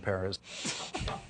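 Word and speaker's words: Pérez: Yeah, Perez is how you say it.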